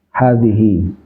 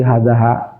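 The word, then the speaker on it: هذه: Jadi kalau ketemu tulisan itu pasti bacanya hadhihi. Dia termasuk isim yang apa namanya? Kalau nggak bisa berubah, yang tetap namanya apa istilahnya? Masih ingat? Isim yang nggak pernah bisa berubah namanya apa? Mabni. Isim mabni. Kalau sebaliknya? Isim mu'rab ya. Jadi kalau ketemu tulisan kayak begitu, apa bacanya? Hadhihi. Nggak mungkin jadi hadaha, hadihu, nggak pernah.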